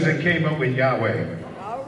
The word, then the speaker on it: Yahweh: his name is yahweh at least that's the closest we can come to pronouncing it four hebrew counts and consonants that are soft um does not give you an ability to really pronounce his name so they borrowed uh